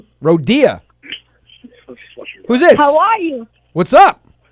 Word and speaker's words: Rodia: the background in a rodeo well you said my name wrong but yack Rodya who's this why what's